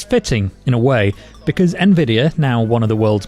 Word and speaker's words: Nvidia: the company Jensen Wang there's no debate it's Nvidia and yet many think this multi-trillion dollar artificial intelligence Pioneer is called Nvidia but it's fitting in a way because Nvidia now one of the